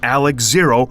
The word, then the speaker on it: XARX-ZERO: Mobile Suit Gundam RG Wait, how do you pronounce that? RG Alex Zero.